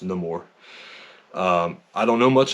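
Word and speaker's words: Namor: The more not anymore we learn in the movie that is pronounced no more um I don't know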